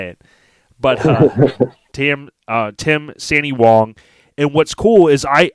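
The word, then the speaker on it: Sandee Wong: your last name right so can you pronounce it for me or do you want me to say it you go first see sandy wong perfect see so it's s-a-n-double-e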